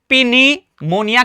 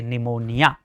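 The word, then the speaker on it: pneumonia: पीनीमोनिया कहते हैं। नहीं सर रॉन्ग हो जाएगा क्योंकि ये क्या हो रहा है भैया? जी एन से पहले आ रहा है। तो यहां पर पी साइलेंट है।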